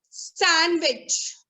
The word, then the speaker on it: sandwich: It is sandwich. What is it? Sandwich. It's not sandwich. Got it? The D is silent over here.